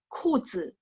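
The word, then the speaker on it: 裤子: 25 kuzi. Kuzi, ka baca kaha.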